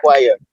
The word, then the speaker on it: inquire: Inquire is pronounced exactly the same way with the word in front of it.